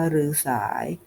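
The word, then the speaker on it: ฤๅสาย: นัก บวช พวก นึง หรือ สาย อ่าน ว่า หรือ สาย คำ เรียก ผู้ เป็น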